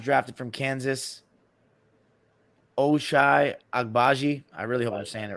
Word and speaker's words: Agbaji: that the Cavs drafted from Kansas oh shy agbaji I really understand it right you're saying it